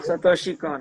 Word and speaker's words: Satoshi Kon: I don't know how to pronounce this. Satoshi Kon? Satoshi Kon.